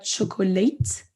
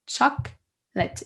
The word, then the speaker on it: chocolate: supprime une syllabe quoi on dit pas chocolate ni chocolate on dit chaque bête il ya 1 ou qui disparaît donc ça ça arrive